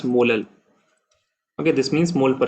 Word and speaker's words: molal: So its unit will be mole per kg, or it is also sometimes written as small m, which is pronounced as molal.